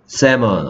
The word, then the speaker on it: salmon: Salmon 어떻게 쓰죠? SAL. SALMON. Okay, 그래서 L이 소리 안 납니다.